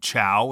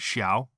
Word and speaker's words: Xiao: Yeah, the other one was making fun of us for saying chow instead of xiao. Oh yeah. That is what it is for me. They were like pronouncing xiao like he's food.